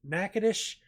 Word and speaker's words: Natchitoches: Natchitoches, Louisiana, and I said Nacogdoches. That's the one that's spelled almost the same way in Texas. This is Natchitoches, Louisiana.